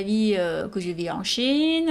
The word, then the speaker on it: Qin: bonjour tout le monde je m'appelle chine on l'écrit qi est non prononce t c hin je suis une chinoise